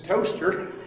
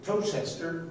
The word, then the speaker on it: Towcester: married John Manley of, I assume this is Toaster. I always call it Towchester because it's easy, reminds me how to spell it.